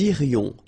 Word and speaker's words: irions: Nous irions. Final S not pronounced. Nous irions.